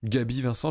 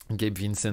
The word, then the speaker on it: Gabe Vincent: Gabi Vincent, je ne sais pas comment on le prononce. Gabe, merci. Vincent. Gabe Vincent.